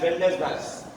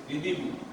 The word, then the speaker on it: rendezvous: I am sure from the spelling you will pronounce it as Rendezvous. Rendezvous, wrong. You will be surprised that this is pronounced like this, Ridibu.